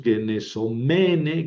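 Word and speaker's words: γενησομένη: Ojo porque en el menos, mene, menon, en la terminación, el masculino y el neutro llevan el acento en la antepenúltima, genesómenos, genesómenon. En cambio, el femenino tiene el acento en la penúltima, es una paroxítona.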